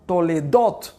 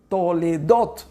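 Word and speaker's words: תולדות: escribe de forma correcta tiene la acentuación en la última o toledo toledo esa es la forma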